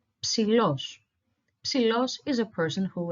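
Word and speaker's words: ψηλός: So the first syllable is psi. Then we have l, o, and s. So los, the second syllable. Altogether, psilos, psilos.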